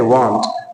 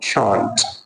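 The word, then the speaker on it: shan't: जो है शॉन्ट है, लेकिन अक्सर स्टूडेंट्स ये शॉर्ट फॉर्म इसको मिस प्रोनाउंस करते हैं। अक्सर स्टूडेंट्स कहते हैं वांट, तो वांट जो है वो मेन वर्ब है जिसकी मीनिंग है चाहना, तो इसको वॉन्ट वॉन्ट प्रोनाउंस करना है, इसका शॉर्ट फॉर्म शॉन्ट।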